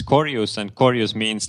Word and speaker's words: Korjus: corus hello hello it's it's nice how you pronounce it my last name cus because in Estonian it's corus and corus means like dead rotting an well